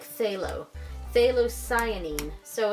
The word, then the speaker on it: phthalo: heard people pronounce this they pronounce it more like with just the th so it's like say lo they lose signing so